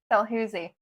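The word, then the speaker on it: Dalhousie: Dalhooie.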